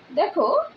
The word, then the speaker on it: the: সেই ওয়ার্ডটি যদি কনসোনেন্ট দিয়ে শুরু হয় তাহলে সেই ক্ষেত্রে টিএইচ এর উচ্চারণ হবে দ্য, যেমন দ্য blackboard, দ্য পেন, দ্য pencil, দ্য duster. ওকে, এবার আসি টিএইচ এর উচ্চারণ কোন কোন ক্ষেত্রে দি হবে। টিএইচ এর উচ্চারণ দি হয় তখনই যদি সেই ওয়ার্ডটি ভায়েল দ্বারা শুরু হয়, যেমন দি আউল, দি অরেঞ্জ, এটসেট্রা।